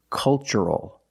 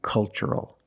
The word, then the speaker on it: cultural: And the second word, cultural. Also remember the first syllable is a short U, like cup and up. Make a relaxed sound. Culture and cultural.